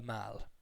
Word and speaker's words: Mall: street is called the MAL it's presented but it's pronounced mal like malpractice or like pal not like the American shopping center called a mall which is the same